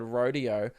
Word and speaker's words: rodeo: It's not rodeo. Rodeo. That sounds like an RDO, like a rostered day off for a tradie. Oh, man, it's my buddy RDO, my rodeo. It's rodeo. Who pronounce it? Do Americans pronounce it rodeo? Dude, they're wrong.